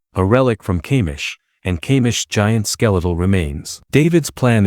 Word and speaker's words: Kamish: They fought a dragon named Kamish. By the way, correct me if I'm pronouncing it wrong, is it Kamish?